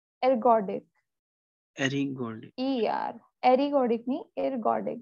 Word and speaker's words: ergodic: Ari, ma'am, what is the pronunciation? Ergodic, E-R. Ergodic नहीं, ergodic, it's called ergodic.